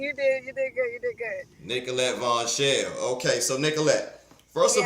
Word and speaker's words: Nicolette Vonchelle: the new West Regional director of blexit M nicholet Von shell am I pronouncing it right you did you did good you did good Nicollet Von shell okay so Nicollet first of all where where